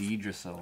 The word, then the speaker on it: Yggdrasil: It's Yggdrasil, I think. Yggdrasil. Listen, I happen to be Viking. Really? I know the pronunciation of Viking things.